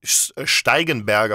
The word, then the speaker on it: Steigenberger: so we have the steigenberger hotel that's how you pronounce it in German okay stegenberger stigenberger in